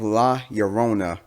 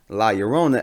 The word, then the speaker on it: La Llorona: the curse of la yorona which i am pretty sure i'm pronouncing it right is a light connection to